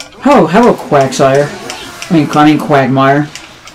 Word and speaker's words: Quagsire: you said hello Quagsire which is the actual name quagmire and then you said I mean quagmire and it's like no quagmire is actually the Family Guy character you said it right the first time I don't know if